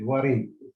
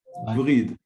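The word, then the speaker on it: وريد: Like the heart pumps the blood into the Sharayan, and the blood comes back with warid. It's Vrid. huh? וריד זה וריד. Warid, exactly. But Sharayan is the עורק, בעברית זה עורק, עורק.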